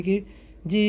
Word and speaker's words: cage: फिर से CAGE, यहाँ भी जी ई आया है तो ज पढ़ेंगे। तो केज, केज मीन्स पिंजरा।